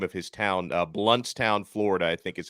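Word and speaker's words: Blountstown: I think I brought him up one time and I mispronounced the name of his town. Bluntstown, Florida, I think is how you say that.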